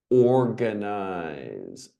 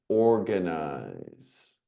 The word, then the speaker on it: organize: Organize, organize. Hard G.